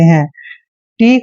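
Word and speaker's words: hate: ए की मात्रा पढ़ते हैं टी का वचन ट करते हैं और लास्ट में जब भी आता है ई का उच्चारण हमने नहीं करना है हेट हेट मींस होता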